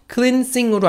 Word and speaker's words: cleansing: 영어 발음은 자기네들 맘인 경우가 있어요. 그래서 cleansing으로 안 읽히고 cleansing으로 읽혀요.